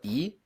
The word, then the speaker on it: y: uh from now on i'm gonna pronounce it like e because that's how you say it in spanish but just know like